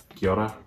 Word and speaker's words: Kia ora: Kia Ora.